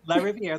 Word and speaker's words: LaRiviere: Did I pronounce it right, Serafin? Yep, LaRiviere. That's just perfect.